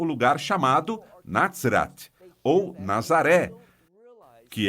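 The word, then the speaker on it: נצרת: Dizemos em hebreu para Nazaré, Natzrat. Não se trata de Nazer, mas Natzrat.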